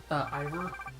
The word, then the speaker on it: Ivor: So what did you say his name was? Ivor. So I was right. What did I say his name was before? You were calling him Ivan before.